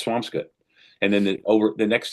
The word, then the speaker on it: Swampscott: There's so many things that are pronounced funny up here. Like I live in what you would say Swampscott but it's Swampskut.